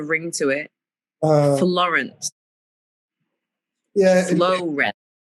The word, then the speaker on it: Florence: Florence. It rhymes with the homie Lawrence.